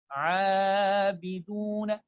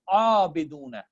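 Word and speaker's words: عابدون: So abiduna, I'm not making it abiduna. Abidun is wrong.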